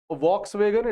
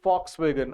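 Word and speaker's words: Volkswagen: जैसे कि आपकी गाड़ी आती है फॉक्स वैगन, उसकी स्पेलिंग होती है VOX WAGON, तो इट इज नॉट वॉक्स वैगन, इट इज फॉक्स वैगन।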